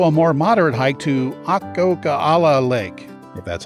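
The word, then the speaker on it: Akokala: area there's also a more moderate hike to ah coca a la Lake that's how you pronounce it it's only eleven point six very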